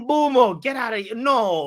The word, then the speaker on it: Mbeumo: says it's Mbumo. Get out of here. No, like we looked up his pronunciation and he was saying it.